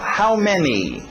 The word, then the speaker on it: many: How many. Tem que ter aquele I no final. Many. How many. How many. How many? Não rola. How many. Okay?